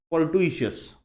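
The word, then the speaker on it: fortuitous: आज का जो फाइनल वर्ड है वो है फोर्टुइशियस। प्रोनाउंसिएशन पे ध्यान देना, फोर्टुइशियस। The word comes from Fortune. Fortune का मतलब पता है ना आपको? फॉर्चून मतलब लक या चांस, है ना। तो फॉर्चून से ही बना है फॉर्च्यूसस, है ना, फॉर्ट्यूसस, फॉर्टुइचस।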